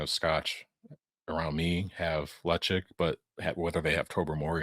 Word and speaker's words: Ledaig: Lechik isn't Where's Lechik Lecheg? or Lecheg or however you wanna pronounce it. There's a couple different ways I hear it, but it's not Ledag. That's what I know.